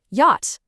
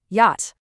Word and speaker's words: yacht: It just sounds like the word hot, but with a Y in front. Yacht. That's literally it. Yacht.